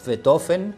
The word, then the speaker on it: Beethoven: porque no era aristócrata es ludwig van beethoven porque sería la pronunciación alemana correcta no no es el